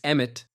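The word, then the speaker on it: אמת: up this channel's mission regarding that agreement it's emit emtt is pronounced just like that it means truth because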